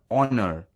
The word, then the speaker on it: honor: it could also include some words that begin with h where h is silent it's an honor to be rewarded by